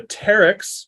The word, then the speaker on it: pteryx: is is ancient and the Terex with the silent P you can think of like pterodactyl has a silent P at the beginning PT pterodactyl uh for